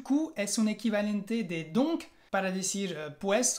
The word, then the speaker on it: donc: El primero es donc. Así es, con el sonido de la O nasal. On. Donc.